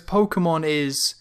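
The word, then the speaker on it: Pokémon: Because Pokemon it's Pokemon, there's just a dash above the K, which creates that extra syllable, Pokemon.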